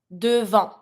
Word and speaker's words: devant: Ahead, devant. A-N, en sound. T is not a R, mute consonant, you don't pronounce it.